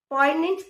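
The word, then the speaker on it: poignant: पॉइनेंट contrast. पॉइनेंट जी इसमें silent है, इसकी प्रोनाउंसिएशन है, और जिसका मतलब है मार्मिक।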